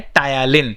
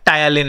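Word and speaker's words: ptyalin: amylase का ही दूसरा नाम होता है टायालिन. पी साइलेंट होता है, टायालिन एंजाइम.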